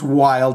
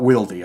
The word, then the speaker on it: Wylde: podcast Zack Wild and I know his name's wild and not wiy I just like to say it like that okay he spoke about